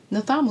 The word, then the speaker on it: nidhamu: Nidhamu Sasa means discipline now in Kiswahili. The DH is pronounced like a T.